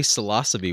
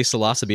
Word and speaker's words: Psilocybe: And I heard you say psilocybe, which I just want to congratulate you on, because I only know one other person who pronounces it correctly. And what I find is when you say psilocybe, everyone thinks you're saying it wrong.